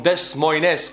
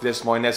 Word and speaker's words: Des Moines: Dustin, you're from Des Moines, Iowa. I know it's not Des Moines, it's Des Moines.